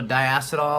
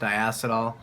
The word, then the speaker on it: diacetyl: releases formaldehyde there's also diacetyl or diacetyl however you want to say it's pronounced diacetyl but there was also